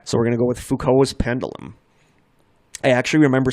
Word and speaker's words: Foucault: full call okay I think I saw I pronounced the fuko's okay so we're gonna go with Foucault is pendulum I actually remember seeing one of